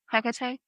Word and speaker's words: Hecate: There's like 8 different ways to say this lady's the goddess. Hecate? Yes. But then there was one I saw, and it was like the H is silent.